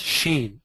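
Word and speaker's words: ש: Wicks the lower quary a letter in the Hebrew alphabet pronounced Sheen stands for shedai a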